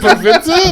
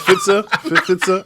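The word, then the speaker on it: Pfizer: The P is silent, Every brother. time I see that, I'm like, Pfools?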